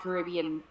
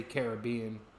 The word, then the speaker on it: Caribbean: Well, that's the way that we say Caribbean. Yeah. And I know that in America they say Caribbean. This is a different accent on a different part of the word, right?